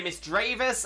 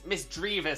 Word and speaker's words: Misdreavus: makes sense to me I've heard people say Miss dravis and misdreavus um but mystery mysterious misdreavus seems to make the most sense in my mind but I I do if if someone says Miss dravis I don't think I'd have a problem with it um I understand where that comes from so yeah um Miss